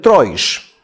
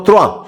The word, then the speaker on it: Troyes: En documentos hebreos medievales se escribe que Rashi vivía en Troish, que justamente tiene que ser Troish o Troyesh, pero no Troa.